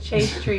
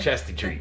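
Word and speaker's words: chaste tree: Chase tree berry. I keep calling it chesty tree because it's spelled the chesty tree.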